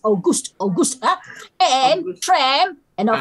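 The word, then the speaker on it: Auguste: We have white face, we have August, it's pronounced August, huh?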